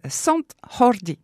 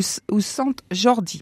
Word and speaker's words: Sant Jordi: Pour la Catalogne, le 23 avril, on fête la Sant Jordi ou Sant Jordi parce que je pense que les Catalans ne prononcent pas la Jota.